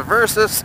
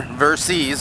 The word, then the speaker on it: Versys: bought the Harley so the versus she is her Versys I guess you wanna say it correctly she is parked in